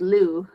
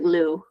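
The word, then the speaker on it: lieu: what is it uh the way I've learned to say it is Lou okay um and well uh but yeah basically inl of uh means um it basically means instead of like in in its place yeah it's like Lou like l o o Lou um yeah well you got to be careful though Lou l i e u means in what was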